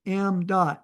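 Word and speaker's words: ṁ: So you pronounce this variable m dot, mass flow rate.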